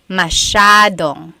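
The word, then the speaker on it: masyado: masad means a lot so the s y a is a Sha Sha sound mashad yep EJ said Miami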